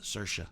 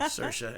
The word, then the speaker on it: Saoirse: And along with Saoirse. I said it right. Yeah. Saoirse and Adam Driver.